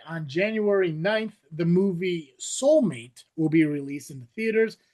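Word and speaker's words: Soulm8te: Fun fact, the title is pronounced soulmate and the eight connects it directly to the AI model numbering used for Megan, which has a three, not Becca, but Megan.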